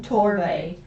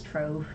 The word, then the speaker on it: Torve: Torve. She thought it was Trove. Like a treasure trove.